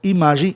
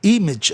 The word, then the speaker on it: image: Palavras terminadas em AGE com mais de uma sílaba, obedece-se o som do grupo. Age passa a ser átono no fim.